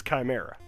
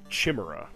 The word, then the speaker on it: chimera: up, but it's not this chimera, or as some people pronounce it, Chimra. I don't I don't know why that pronunciation took hold with a lot of people, especially when chimeas are some kind of mythological beast. Anyway, but we want to